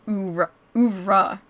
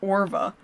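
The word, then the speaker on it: oeuvre: It's pronounced ouvra, not orva.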